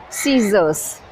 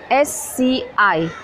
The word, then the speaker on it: scissors: Scissors. S-C-I-S-S-O-R-S, scissors. I need a pair of scissors to cut the paper.